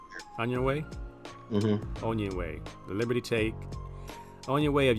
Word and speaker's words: Onyenwere: Michaela Onyenwere. Onyenwere? Mm-hmm. Onyenwere.